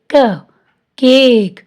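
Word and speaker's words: cake: क ए क, केक, ई साइलेंट है।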